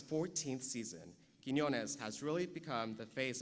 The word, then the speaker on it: Quiñones: to pronounce you know people even at ABC people have trouble saying Quinones I've been called Quinn ones with no needs but